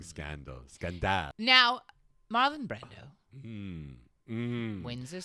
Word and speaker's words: scandale: The French way of pronouncing scandal. Scandale.